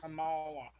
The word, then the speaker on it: Kamala: believe by now I think how do you pronounce that? Kamala? Kamala? Kamala.